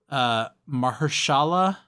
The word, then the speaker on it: Mahershala: He is voiced by, and I'm going to butcher this, Mahershala, is that how you pronounce his name?